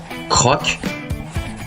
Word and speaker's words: croc: Maintenant nous allons voir d'autres mots avec le son O finissant par d'autres lettres muettes. Cette fois-ci avec la lettre C. Ça s'écrit escroc croc mais ça se prononce